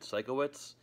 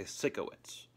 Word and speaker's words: Sikowitz: Eric lanes who played Sikowitz they mispronounced it twice they say sicko it's these people have not